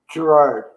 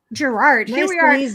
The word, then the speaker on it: Girouard: you pronounce your name gerard gerard i googled the franchise pronunciation she is out really she's in there it's a french name and the original name